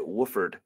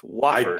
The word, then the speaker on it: Wofford: think it's because you're pronouncing it Wooford. It's Wofford.